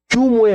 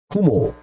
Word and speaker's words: 규모: 당기는 힘, 유인력은 규모에 뭐하고 비례하고 거리에 반비례. 다시 규모에 뭐하고, 제가 발음이 좀 그래요.